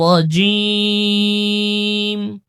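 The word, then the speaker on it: الرجيم: আবার কোথাও পাতলা হয় এখানে র উচ্চারণ মোটা হবে নির নির রাজিম আউজু বিল্লাহি মিনাশ শাইতান মিনির রাজীম আউজুবিল্লাহি মিনাশ শাইতানির রাজীম।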